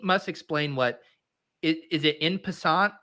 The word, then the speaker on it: en passant: Pete must explain what is it in passant? Is that pronounced right? It's a French term. Yeah, I know it's fucking French, Liam. Oh yeah. Okay, I'm sure you knew that. It fucking rhymes with croissant.